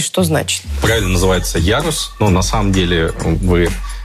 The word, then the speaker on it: Ярус: Как вообще правильно она называется, где ударение и что значит? Правильно называется Ярус.